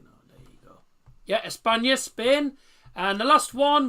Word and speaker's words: España: If you're on about Spain, it's España. It's spelt like that, but instead of OL, just change it to A.